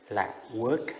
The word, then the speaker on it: work: Còn âm ơ nhiều bạn đọc sai lắm. Work là làm việc.